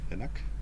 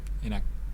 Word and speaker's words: enak: Enak? Enak. Enak. That's a K at the end, but I think you don't really pronounce it.